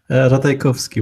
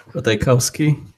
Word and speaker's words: Ratajkowski: Ratajkowski would be the Polish pronunciation. Ratajkowski is what Americans or Brits would say, I guess.